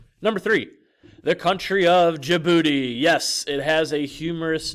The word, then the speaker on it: Djibouti: I've said it before in class yes it's pronounced Djibouti about the size of Massachusetts it was once